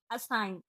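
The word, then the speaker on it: assign: का दूसरा रूल है जब जी के बाद एन आए तो जी साइलेंट होती है जैसे एस आई जी एन साइन ए एल आई जी एन एलाइन A double S आई जी एन असाइन जी एन ए आर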